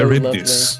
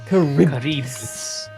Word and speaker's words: Charybdis: Oh, how did you pronounce this dog, man? So Charybdis. lovely. Charybdis. Charybdis.